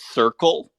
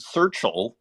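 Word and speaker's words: Serchle: know the artist Circle uh pronounced like s-e-r-c-h-l-e I don't know them so I wonder maybe I'll be able to find them on Twitter but that is an artist who's been around for a long time kind of has this I almost want to pronounce it searchle uh and kind of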